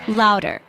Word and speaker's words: Lauder: It's pronounced as louder. Listen again. Louder.